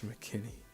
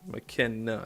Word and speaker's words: McKenna: Why am I saying Terrence McKinney? That's not. Oh, it is. It's spelled differently. I think it is McKenna. I think it's McKenna. Yep.